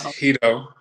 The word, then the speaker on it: Hedo: It's Hedo. Right. Word hedonism. Christy actually sent me, you know, some cleansing products and things.